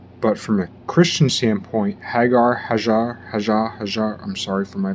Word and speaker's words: Hagar: I also believe that Christians should start calling Hagar hajjar however the pronunciation whatever that Islamic Egyptian pronunciation is I think Christians should say that because it recognizes the etymological the phonetic history better and Hagar is an ugly word it starts with hag AR and also there's that